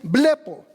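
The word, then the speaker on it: βλέπω: Entonces Cristo dice, cualquiera que mira, y la palabra en griego de mirar hay dos, pero la palabra mirar ahí es blepo.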